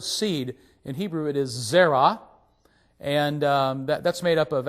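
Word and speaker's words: זרע: the last letter, which really is a silent letter for us, it's the letter ayin.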